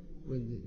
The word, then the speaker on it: Windisch: Est-ce que je prononce bien votre nom? Wendish ou Wendish? Wendish.